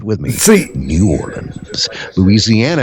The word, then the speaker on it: Louisiana: Louisiana is just like I said it. Louisiana. It's not Louisiana. It's not Louisiana. It's Louisiana. It's New Orleans, Louisiana.